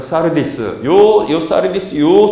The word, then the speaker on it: 사르디스: 자 그래서이 4대가 4대 원래 발음은 사르디스요 도시의 특징이 무엇이냐 하면